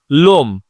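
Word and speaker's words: l'homme: লোম মানে লোকটি। লোম মানে লোকটি। লোম মানে লোকটি। এখানে এইচ এর উচ্চারণ উজ্জ্ব রয়েছে।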